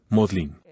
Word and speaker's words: Magdalen: md College de Oxford se escribe m aln Magdalena pero los británicos por alguna razón desconocida lo pronuncian modlin estaba caminando por la